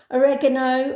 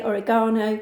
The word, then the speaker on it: oregano: seeds, coriander, paprika, cumin, oregano, as the Americans say, oregano, garlic, ginger, bay leaf,